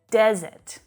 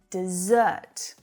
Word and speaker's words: desert: type of word and it's all in the syllable stress we have desert data desert this is you know an area of land that doesn't have a lot of water then we've got the verb dessert dessert exactly like dessert right